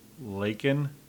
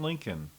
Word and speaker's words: Laken: Laken, pronounced Laken, Mr. President. Laken, not Lincoln.